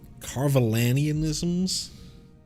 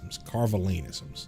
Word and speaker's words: Carvalanisms: So you're not familiar with Carvalanianisms? Carvalanisms. I was adding an extra syllable there. Carvalanisms.